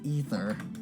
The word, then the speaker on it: aether: the effects of the aether i reckon you'll get used to it though don't worry excuse me ether i think is how it's actually pronounced it's spelt aether but it's actually pronounced ether you the halt what's